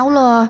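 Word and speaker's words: الله: Jadi kita kalau nyebut harusnya ngikut kaidah bahasa Arab dong bacanya Allah. Karena kaidah bahasa Arab bacanya Allah.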